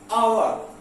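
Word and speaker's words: hour: जैसे एक्स से वैसे उच्चारण होता है हा, लेकिन इसको हम हावर नहीं बोलते, इसको हम क्या बुलाते हैं? आवर।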